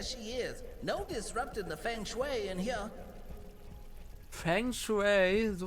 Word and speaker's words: Feng Shui: No disrupting the feng shui in here. Feng Shui, so wird es ausgesprochen.